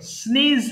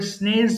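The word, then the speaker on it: sneeze: শর্টেন্ড short hand এরপরে স্নেজ হাঁচি দেওয়া এটা অনেকে ভুল করে স্নেজ বলে ফেলে উচ্চারণ হবে স্নেজ হাঁচি দেয় এটাকে তাহলে স্নিজ বলছি আমরা তাহলে একটু বলি স্নিজ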